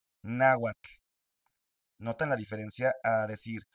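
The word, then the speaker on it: náhuatl: La terminación TL hace que tu lengua toque el paladar.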